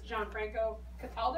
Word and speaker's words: Gianfranco Cataldo: This is Gianfranco Cataldo, am I pronouncing it correctly?